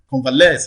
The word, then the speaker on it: convalesce: or e s e the primary stress is likely to fall on the last syllable convalesce is one of the